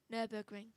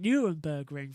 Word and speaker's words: Nürburgring: Say Nürburgring. Nürburgring. There you got it. You called it Nurembergring for quite a long time.